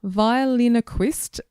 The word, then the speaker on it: Violinoquist: Violinoquist Roz. It looks like ventriloquist, but it is violinoquist.